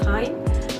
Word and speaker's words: TIJN: They were sponsored by this online company called Time, TIJN, and I was told that it should be pronounced as Time.